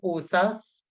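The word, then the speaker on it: OHSAS: inspired by osas 1801 that's how they pronounce these uh five letters there osas and it would have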